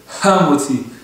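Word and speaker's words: המוציא: hamotzi, il faut dire hamotzi. Bien sortir le he. Il y a des sodotes dans ça que faut bien sortir, bien prononcer le he de hamotzi.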